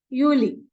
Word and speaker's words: Juli: July it is juli okay J they will pronounce it as Uli okay now for August if you see the